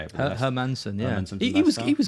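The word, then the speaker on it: Hermansen: Like the sign supposed to be like decent hermus, is it? Or I don't know how you say it. Hermanson.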